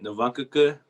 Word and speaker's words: Navakuku: love your last name i want you to pronounce it and tell me what it means okay um my name is novankuka my last name means snow feet or it